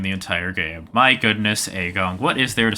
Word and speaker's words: Eigong: entire game my goodness aong what is there to say about aong uh well initially the pronunciation was supposed to be gong but uh that did not make it into the final cut because people there was